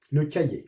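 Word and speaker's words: cahier: لو كايي، لو كايي. الوغ ça commence par C, alors ou E, alors CA, CA, H muet كاين واحد H اللي ما تتقراش، كاين الوسط.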